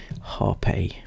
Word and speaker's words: Harpy: I know, so that is how you pronounce it. It says on the Instagram. Okay, I don't get it either, but anyway, Harpy.